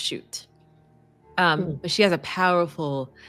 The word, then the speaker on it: Shut: I believe it's pronounced shoot.